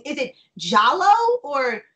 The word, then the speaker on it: giallo: I'm pretty sure it's Giallo. I always pronounced it Gallo, but. Okay. I'm 99% sure that it's Giallo. Okay. Where we would as Americans pronounce the like soft G of G, it's actually the hard G of J, Giallo.